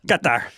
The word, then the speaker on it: Qatar: Qatar Qatar. Thank you, Karen, for the pronunciation. Make sure we got it right. Katar.